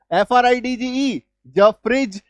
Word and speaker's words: fridge: लेकिन नहीं भाई साहब, इसका उच्चारण ज होता है। तो LODGE laws, FRIDGE फ्रिज, HDGE hedge, WDGE वेज, PLDGE pledge, DODGE Dodge.